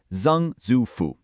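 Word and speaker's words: 曾祖父: In Mandarin, that's Zang Zufu, pronounced Zang Zufu.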